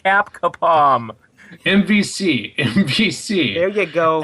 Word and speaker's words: Capcom: man before we started I told you it's pronounced cap kapom MVC MVC there you go and basically I